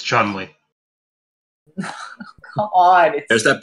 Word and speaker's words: Chun-Li: It's Chun-Li. Come on. There's that pronunciation again.